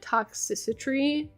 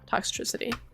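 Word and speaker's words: Toxtricity: this Pokemon's name wrong I always pronounce it toxicitry but it's toxcity tox yeah toxitricity um these could be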